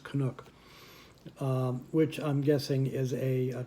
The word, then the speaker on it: Canuck: That's how it's pronounced, Canuck.